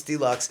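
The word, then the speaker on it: DLUX: a new record DL d-l-u-x Deluxe pronounce Deluxe Gene you have to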